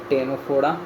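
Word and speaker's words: Ctenophora: निडरिया हो गया टेनोफोडा। इसका भी सी होगा साइलेंट। टेनोफोडा और इकाइनोडर्माटा।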